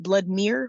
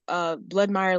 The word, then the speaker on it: Bloodmire: And then blood and then Bloodmire like vampire because people pronounce it Bloodmere when they see it, and that is not what that says. And so Bloodmire like vampire.